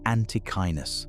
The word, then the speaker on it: antechinus: The animal is called the antechinus. That's pronounced ante-kai-winus.